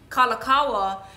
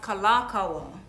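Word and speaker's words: Kalākaua: i have been saying kalakawa and his name is pronounced kalakawa there is an accentuated a when you say it like what we gonna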